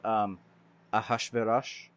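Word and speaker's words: אחשורוש: In Hebrew, it's pronounced Ahashverosh.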